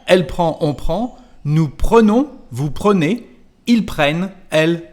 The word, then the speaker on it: prenons: And this N is going to change the pronunciation of the letter E before. So instead of prend, here we've got pre. Nous prenons, vous prenez.